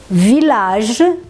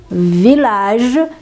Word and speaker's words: village: Y, você pronuncia L, mas nesse caso dessas três palavrinhas, também será pronunciado com L só. Então, você tem ville, ville, que é cidade, village, village, que é uma cidade